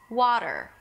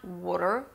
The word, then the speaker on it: water: Wah- you round your lips. And then, and this is the tricky part, you open your mouth wide into an AH as in 'father' vowel. Wah- , water Waa-ter, okay So it's not 'wter', 'wter' or 'woter', okay, but 'waa'.